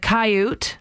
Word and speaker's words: coyote: katie wrote in saying i pronounce coyote like cayute i think it's a